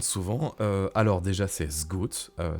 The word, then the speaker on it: Sgauth: euh alors déjà c'est s Go euh ça se prononce voilà comme si comme si c'était un Z à la place du S euh ça vient de